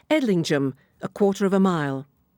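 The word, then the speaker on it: Edlingham: Only in Northland does the pronunciation change and become Injum as in Witchingum or indeed Edlingum. Edingum is a really worthwhile detour.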